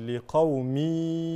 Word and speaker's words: لقوم: لايات لايات لايات لايات لقوم التنوين هنا ادغام بغير غنه ينطق هكذا لايات لقوم يتفكرون التنوين لقوم ادغام